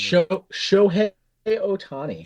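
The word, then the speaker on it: Shohei Ohtani: day and I wasn't sure how to pronounce his name and now you've cleared that up for me. Show Otani.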